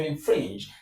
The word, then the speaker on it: infringe: In this case, in the case of infringe, infringe, infringe, the stress is on fringe.